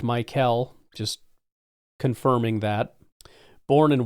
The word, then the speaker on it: Mykel: The name is pronounced Mykel, just confirming that.